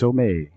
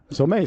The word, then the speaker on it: Somang: Yeah, I was told that's how you pronounce it.